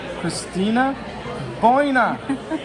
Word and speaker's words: Cristina Voina: Hi everyone, I am here with Cristina Voina. Did I pronounce that correctly? Yes, you did, as always. Cristina Voina. Cristina Voina is a real estate investor, and she's part